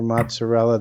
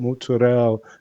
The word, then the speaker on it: mozzarella: names of things like for mozzarella they call it mozzarella. No, it's mozzarella.